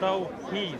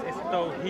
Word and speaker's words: Tawhid: Do you want to debate the Islamic concept of Tawhid? You already asked me. It's Tawhid. Do you want to debate it though? It's Tawhid. Yeah, pronunciations apart.